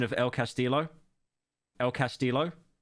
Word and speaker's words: El Castillo: I love how Pyro butchers the pronunciation of El Castillo. El Castillo.